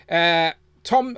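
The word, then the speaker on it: Thom: Before we go to Tanner, just real quick, Tom. So I am TJ Williams in the chat, which is someone I recognise who's here often. Says that's him. He is Tom. He said the H is silent.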